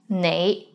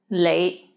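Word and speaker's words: 你: is the word you the right way to pronounce it is nay but in hong kong many people pronounce it as lei lei let's get into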